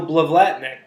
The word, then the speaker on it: Blavatnik: John Hein and Blavatnik did I pronounce that your last name right it was super close I'm excited by the attempt of latnok you're putting an extra L in there oh I've tried to